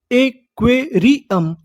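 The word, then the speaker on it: aquarium: क्यू यू ए क्वे आर आई री यू एम अम एक्वेरियम।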